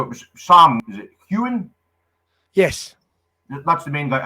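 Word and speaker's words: Heughan: Is it Hewen? Yes. That's the main guy. I just want to make sure I'm pronouncing his name correctly.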